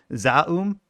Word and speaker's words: ZA/UM: Another thing I had to look up how to pronounce. Zaum, ZA/UM.